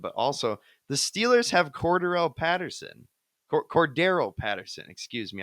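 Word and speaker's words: Cordarrelle: But also, the Steelers have Cordero Patterson. Excuse me. I think Cordero is the correct pronunciation.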